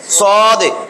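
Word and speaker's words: ص: হলো কঠিন দর এটা সদে সদ এটা উচ্চারণ হবে সদে সদ সদে একটা নিচে ধাক্কা সদে সদ সদে সদে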